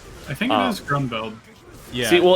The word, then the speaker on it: Grunbeld: I think it is Grunbeld. Yeah. See, well, in the Japanese version, his name is spelled like Garoon Bird, and that's what I think of him.